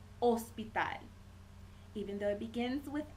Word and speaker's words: hospital: you wanted to say Hospital you will say ospital even though it begins with Ace is silent okay let's see um hota hota in